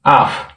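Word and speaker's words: 앞: দেখেন এই ফিয়ফ, হ্যাঁ, ফিয়ফ বাসে গেলে ফ উচ্চারণ হয়। হ্যাঁ, যেমন আফ, এই আফ, আ ফ, আফ।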